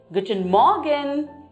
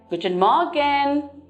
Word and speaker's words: Guten Morgen: greeting we use is Guten Morgen. Guten Morgen. So you can see the syllabic pronunciation here, Guten Morgen. There are 4 syllables in this word Guten Morgen.